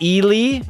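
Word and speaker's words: Eeli: It's pronounced Eli. Is it Eli Tolvanen?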